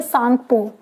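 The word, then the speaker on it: Tsangpo: से जाना जाता है तो वो है सांगपो यहां पर टी साइलेंट है अब जब ये इंडिया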